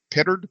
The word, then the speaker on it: Pittard: I love the name 2FunGuys because you do have a partner, Todd Pittard. Is that how you pronounce his name, Pittard?